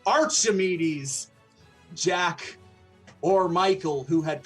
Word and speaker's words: Archimedes: it wasn't necessarily tusk Arc amides Jack I already said it wrong Archimedes Jack or Michael who